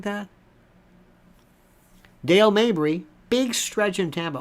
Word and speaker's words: Dale Mabry: Minnesota something like that Dale Mabry Big Stretch in Tampa also people pronounce it Dale Mayberry they mispronounce it like Bradington they they